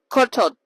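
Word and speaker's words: ขอโทษ: So like maybe kortot? Let me check. Do. Yeah, kortot. My Thai teacher will kill me. Pero yeah, that's how you say I'm sorry in Thai. Kortot.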